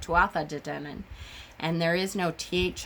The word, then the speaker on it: Tuatha Dé Danann: saying it correctly, because I have always said Tuatha De Danann, and there is no TH on it. I've heard Tua De Danann and Tuatha De Danann.